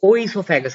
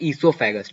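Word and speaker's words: oesophagus: अब इसको बहुत लोग ओ ईसोफेगस पढ़ते हैं। ये ओ ईसोफेगस नहीं होता, इसको ओ साइलेंट रहता है। इसको हम पढ़ते हैं ईसोफेगस, ठीक है।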